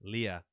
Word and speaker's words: Leia: But no, it's like next thing we know is we hear Leia screaming, Yes, yeah. and I just pronounced it like what's his name does in episode 4, Leah.